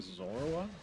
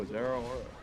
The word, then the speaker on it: Zeraora: You mean Zora? No, Zerora. That's not how you pronounce that.